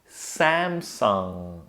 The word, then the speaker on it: Samsung: ah, and notice that we don't end with G. There's no G at the end, right? Instead, I'm ending with the nasally NG sound. Yeah? So to do that, you relax your tongue, no twisting or turning, just relax it and then move it to the back of your throat so the air has to come out of your nose. Now we put it together and we get Samsung.